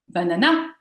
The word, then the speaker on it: banana: Euh c'est par exemple euh en anglais euh euh si je dis euh banana euh bah les gens vont pas forcément comprendre que je parle d'une banana puisque l'accent lexical se trouve sur la deuxième syllabe.